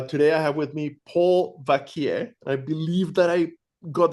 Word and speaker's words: Vacquier: Vakier.